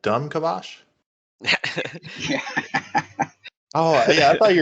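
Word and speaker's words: Dom'Kavash: in the in Discovery they it has been pronounced Dom kavosh or Dam cavosh but actually uh in the game lore in the intro it is pronounced yep like a like a use like a like dumb kabash oh yeah I thought you were joking at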